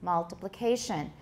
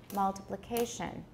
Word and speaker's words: multiplication: now why is that you'll find that you can tap on the first and the fourth syllables multiplication the fourth syllable seems to have a higher or the same degree of stress multiplication it sounds like it